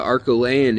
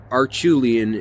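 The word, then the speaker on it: Acheulean: a real Revolution that the arcolaian age or archulean age depending on how you say it uh and I like to say arculane uh it it shows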